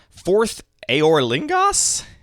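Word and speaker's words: Forth Eorlingas: the Rings Tales of middlee Earth Commander is fourth aor lingos is that how it's pronounced yeah I also need it has an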